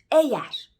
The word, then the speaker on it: eğer: dizilimleri sıralaması vardır Türkçede Yumuşak g y harfi ne dönüşür eğer eğer yazılır Eğer okunur Meğer değer beğenmek Örneğin